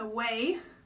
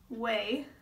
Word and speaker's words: Ouai: So today I'm going to use the Ouai, that's how you pronounce this, Ouai, wave spray.